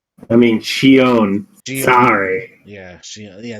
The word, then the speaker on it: Shion: No, I meant the whole boss fight with Zion. I mean, Shion. Shion. Sorry. Yeah, Shion. Yeah, that's how you pronounce the name.